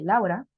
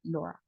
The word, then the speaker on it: Laura: Podríamos pensar que así se pronuncian, pero como les había comentado, la AU suena como una O, por eso aquí vamos a decir en lugar de Laura, sería Laura.